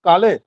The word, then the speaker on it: Kale: Kale.